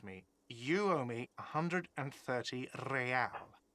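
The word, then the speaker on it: réal: you owe me 130 real he pronounces the r with a mock aristocratic accent the iir or inter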